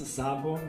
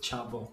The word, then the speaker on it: Szabo: pronounce your last name well in brazil they pronounce zabo but i believe it's chabot the right pronunciation chavo who is